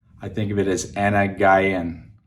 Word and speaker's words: أنا جعان: Okay, Anna Guyana for a girl. So with the American accent, I think of it as Anna Guyan, like Anna Guy, like a guy and girl.